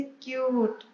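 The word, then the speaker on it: cute: जब you long vowel sound produce करेगा तो ये यू का ही साउंड देगा, जैसे क्यूट, क्यूट में यू का साउंड आ रहा है और जो ई है वो साइलेंट है।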